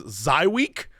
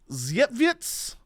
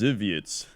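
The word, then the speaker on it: Żywiec: And I know that if you Google it, the first thing you're going to see is a terrible pronunciation that says Zywiec. That's not it. Oh, yeah. That's not how you pronounce it. It is roughly Zytjewicz, something like that. It has an etz at the end instead of a week.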